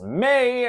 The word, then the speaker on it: me: It's going to be me. It's one of the greatest memes or internet jokes over the last decade. Of course, the lyric is it's going to be me, but it's pronounced May and it's pronounced by Justin Timberlake.